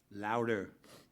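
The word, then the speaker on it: Lodwer: Matt Law, L-O-D-W-E-R, how you pronounce that? Louder.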